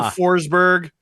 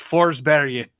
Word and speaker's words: Forsberg: Peter Forsberg is not a person during the duration of this tournament. It's Forsberg. Really? That is how you... Forsberg. That's how you say it.